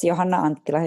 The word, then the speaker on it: Johanna Anttila: Well, it's Johanna Anttila. It's the same as in Finland, basically.